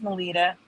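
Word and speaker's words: Melitta: It's pronounced Melita, but if I saw it, I would call that Melita, and the M.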